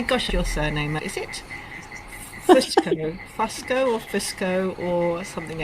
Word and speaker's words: Fusco: it's Fusco. If you were Italian, it would be Fusco. Fusco. Fusco. So kind of both. Either or.